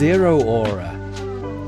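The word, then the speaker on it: Zeraora: Zero Aura. Zero Aura. Is it pronounced Zerora? That's Yeah, I would never have I would never have got that.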